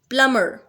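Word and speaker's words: plumber: प्लमर, B pronounce नहीं होगा।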